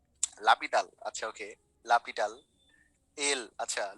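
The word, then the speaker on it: L'Hôpital: ওকে, এখন আমি এটাকে লপিটালই বলবো, কারণ I know that it's called লপিটাল। যে তোমরা যদি এখন লা হসপিটাল নামে চিনো এটাকে, অথবা এল হসপিটাল নামে চিনো, তোমরা বলতে পারো, বাট এনার প্রোনাউন্সিয়েশনটা হচ্ছে লপিটাল। ঠিক আছে, আচ্ছা এটা কখন কাজ করবে?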